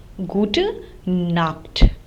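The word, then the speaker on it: Gute Nacht: this greeting can be used the last is G knock which means good night and we say this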